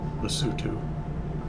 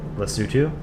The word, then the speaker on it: Lesotho: Lesotho. Is that how you pronounce it? Lesotho?